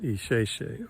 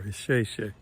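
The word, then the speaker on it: Ìṣẹ̀ṣe: And so even though it's Isese, the S in Yoruba, that S has a slash under it, or a mark. So it has the SH sound. So even though it's spelled Isese, it's pronounced Isese or Isese.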